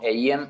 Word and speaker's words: Eiem: Sí, estoy en todas las redes sociales como EIM Oficial. Se escribe E y latina, E-M, así como suena, EIM Oficial.